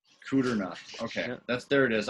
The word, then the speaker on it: Kudrna: just how it sounds just put an e in there between the r and the uh the d and the r then it really makes sense cooter no let me